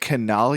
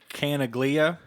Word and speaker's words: Canaglia: effects and I said canal yeah see it's so phonetically it's canna glia Koenig Lia I'm gonna say Kanaga Lia okay no glue yeah